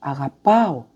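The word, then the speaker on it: αγαπώ: », comme dans « agapoyo », « agapo ». Vous avez remarqué l'accent sur la dernière syllabe.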